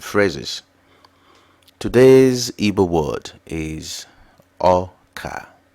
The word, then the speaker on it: Ọka: e words and phrases today's EA word is Oka Oka means con now let's learn how to say